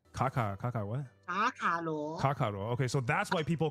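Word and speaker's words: 卡卡罗: What's the Chinese pronunciation of his name? Kaka what? Kakaro. Okay, so that's why people call him Kakarot in like in Dragon Ball Z, like Goku's real name.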